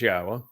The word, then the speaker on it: Yahweh: Yes, it says Yahweh, which is the proper pronunciation of Yahweh's name, our Elawa, God, as directed by his Torah teaching regarding his high existence and our shalom restoration.